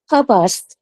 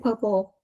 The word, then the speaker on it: purpose: Purpose. Yeah. Purpose. But just now I heard you said purple.